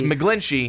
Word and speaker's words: McGlinchey: It's McGlinchey because that's how it's spelled.